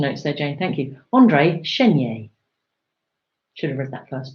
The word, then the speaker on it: André Chénier: go to the guillotine along his lover that's Andreia shanira andré chénier o helpful pronounciation notes there Jane Thank You Andre shin yay should have read that last movie thunderation name